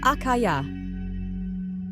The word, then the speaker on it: Achaiah: Name: Achaiah, pronounced Achaiah.